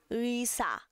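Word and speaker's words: 의사: Ui, ui, ui, já, ui, sa.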